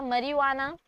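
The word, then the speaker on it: marijuana: मरीजुआना, hashish, जे silent है मरीजुआना का, चरस एंड गांजा।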